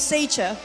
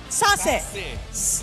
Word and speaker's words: Sassy: to start off with Sacher. Why Sacher? Did I pronounce that right? Sacer? Sacer? How do you pronounce the name? Sassy. It's Sassy, guys. Sassy. Not Sacher, it's Sassy, okay?